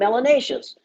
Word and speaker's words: melanacious: skin your skin you should be called melanacious which rhymes with gracious andifications and spacious isn't that